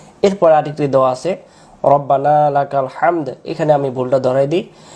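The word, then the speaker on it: حمد: পর্যন্ত শুদ্ধ হবে না এরপরে আরেকটি দেওয়া আছে হামদ এখানে আমি ভুলটা ধরায় দেই আমরা বলি রাব্বানা উচ্চারণ করব রব্বানা এক আলিফ লাকাল লাকাল হামদ হামদ হামদ বাংলাতে বলি হয় আকার হা ম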